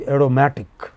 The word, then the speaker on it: aromatic: The stress is on the pre-final. So, it is aromatic, you know?